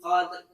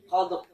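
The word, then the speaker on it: قدر: Bukan qad tapi qadr. Qadr. Jadi dalnya kolkolannya masih kedengeran, roknya juga rok tebelnya dapat tapi takribnya hilang.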